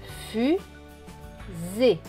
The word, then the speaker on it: fusée: Ça fait que le S se prononce Z. Donc, S avec E, cela donne Z ici. Le E est écrit en bleu, donc il ne se prononce pas. Donc ce mot va se lire fusée.